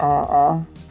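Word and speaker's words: aa: have a a oh i believe it's pronounced ah ah i'm a strange huge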